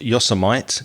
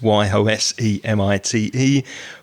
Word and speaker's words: Yosemite: years i grew up thinking that yosemite was pronounced yosemite because it's y-o-s-e-m-i-t-e but with time i realized i was pronouncing